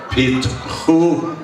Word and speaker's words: Pitchu: Pit, not chew. Chewing pits is going to break your teeth. Okay. Pitchu li sha'arei tzedek avovam odeka.